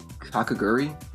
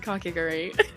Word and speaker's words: Kakegurui: The school uniform from, never pronounce the name, and I've never heard it pronounced right. Kakaguri? Like the gambling show? So, oh my gosh, yeah, I'm planning on doing Kakegurui.